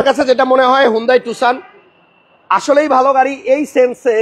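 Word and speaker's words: Tucson: আমরা যে গাড়িটা নিয়ে কথা বলবো গাড়িটা হচ্ছে হুন্ডাই টুসান। এই নামটা অনেকে ভুল পড়ি, অনেকে টুকসান বলি, অনেকে টাকসন বলি, আসলে এক একজন এক এক ভাবে এটার উচ্চারণটা করে।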